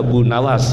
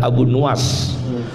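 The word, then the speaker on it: Abu Nuwas: benar bacanya apa asmai jangan baca Abu Nawas yang benar abu nuas gak ada Abu Nawas itu gak ada dalam sejarah yang benar bacanya apa abu nuas abu nuas Imam Ahmad bin hambal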